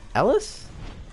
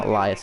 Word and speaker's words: Ellis: and then elias or how do you pronounce his name ellis oh my god it's ellis holy i call him elias it's ellis sorry and ellis will follow